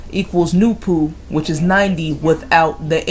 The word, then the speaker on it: NoopooH: The letter H at the end of the name NoopooH is silent and should always be capitalized because it is symbolic.